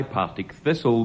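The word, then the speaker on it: Partick Thistle: the Scottish first division Derek Nemo challenge no that's how it's pronounced it I come from that part of the world you can't get to kill me on that one right 32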